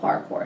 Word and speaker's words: parkour: it the right way, parkour. I know that didn't sound like the way it's spelled, but it's called parkour.